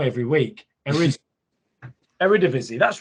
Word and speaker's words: Eredivisie: like i say it wrong every week and eredivisie that's right is that right era division yeah there it is eredivisie every i don't know every division there we